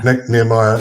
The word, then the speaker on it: Nehemiah: Nehemiah, yeah.